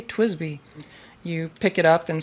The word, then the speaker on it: TWSBI: Yada yada, but people have told me in the comments, no, it's pronounced Twisby. You're supposed to say Twisby.